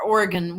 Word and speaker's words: Oregon: Well, they're in Oregon, yeah, or Oregon. We pronounce our vowels like that here.